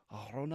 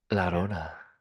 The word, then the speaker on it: Arona: Arona? That Kendrick, looked do you see that? interesting. Say her name better? La Rona. No, it's just there's no la. It's Oh. just Arona.